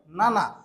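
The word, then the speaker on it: 七: সাত কে মানে সেভেন কে জাপানিসে বলা হয় নানা এর জন্য করেওয়া কিউদেসকা নানা দেসকা এটা কি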